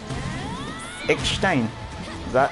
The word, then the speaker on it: Eckstein: Perfect, you pronounced my last name right. So it's Eckstein.